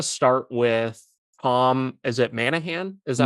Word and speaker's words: Monaghan: Is it Manahan? Is that how you pronounce Monaghan. Yeah, it? Tom Monahan? Monaghan.